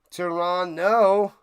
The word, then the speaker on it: Toronto: Don't pronounce the second T in Toronto. Toronto.